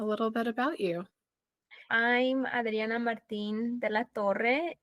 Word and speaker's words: Adriana Martin de la Torre: I'm Adriana Martin de la Torre, and I'm pronouncing it this way because this is the proper way to pronounce my name, but in America they pronounce it differently.